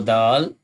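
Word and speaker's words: د: So dal without dot, that's called dal, dal, dal.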